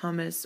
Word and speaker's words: humus: and produce what's called humus or humus. And it's only spelled with one M, so it's not really like hummus.